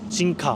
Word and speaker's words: Jinka: 볼 수 있는 어플이 진카. 뭐 여기 발음대로 읽으면 정깨하겠고, 아무튼 진카라고 JINKA.